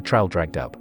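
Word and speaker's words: Traldragdubh: It contained a warrant for conducting me and my retinue to Traldragdub, or Trildrugdrib, for it is pronounced both ways as near as I can remember, by a party of 10 horse.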